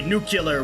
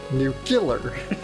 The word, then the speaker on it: nuclear: Or as like most people like to say, nuclear war, which annoys the crap out of me. Nuclear. Yeah. It's pronounced nuclear.